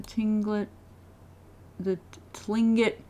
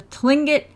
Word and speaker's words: Tlingit: our knowledge of the old ways of the tingling it I pronounced it wrong the Tlingit spiritual practice has been lost below our two